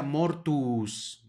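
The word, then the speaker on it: mortuus: crucifixisus siguiente palabra subrayada tenemos dos u por lo tanto se pronuncia mortus more tus luego Aquí tenemos otra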